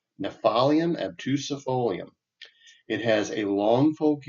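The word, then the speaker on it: Gnaphalium obtusifolium: It is Nephalium obtusifolium. I'm going to go with that as a pronunciation. It's Gnaphalium. So Nephalium obtusifolium.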